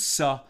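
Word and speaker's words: se'ah: of a saw uh spelled s e apostrophe a uh often tama teachers will just pronounce it as su i want to get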